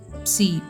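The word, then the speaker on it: psi: இதனுடைய ப்ரொனவுன்ஸ் வந்து பிஎஸ்ஐ, சி, சி.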